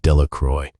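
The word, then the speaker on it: Delacroix: Harry Jones and Dicky delacro the V illers pronounced this name delacroy eventually made a great pile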